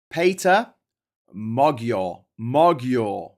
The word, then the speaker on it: Péter Magyar: It is pronounced as Péter Magyar.